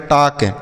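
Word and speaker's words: talk: ए एल के टक यहां पर बच्चों जो एल लिखा गया है ना यह साइलेंट है मतलब इसका उच्चारण नहीं किया जाएगा इसको नहीं पढ़ा जाएगा इसे हम टाल का नहीं पढ़ेंगे टाक पढ़ेंगे टाक का अर्थ होता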